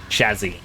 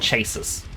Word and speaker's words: chassis: told by my brother like, "No, it's actually pronounced chazzy." And I looked it up and I was like, "Yes, that is actually how it's pronounced. It's it is Chazzy, not chases."